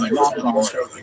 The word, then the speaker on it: Rambam: Typically, especially in Ashkenazim, we distinguish the difference because we say Ramban with the accent on the last syllable, and Rambam, the accent on the first syllable.